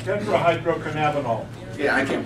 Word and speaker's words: tetrahydrocannabinol: Tetrahydrocannabinol. Tetrahydrocannabinol. Yeah, I can't pronounce that.